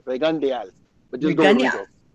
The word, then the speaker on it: Rigondeaux: just go with Rigo, but it's actually Rigondeaux.